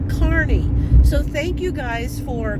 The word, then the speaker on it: Kearney: think i was saying kearney nebraska and it's correctly pronounced carney so thank you guys